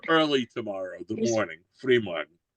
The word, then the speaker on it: Frühmorgen: Frühmorgen. That's the proper way to say it.